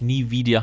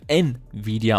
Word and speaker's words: Nvidia: wurde ja letztes mal korrigiert dass es nicht nie wieder heißt sondern Nvidia ausgesprochen wird deswegen tun wir das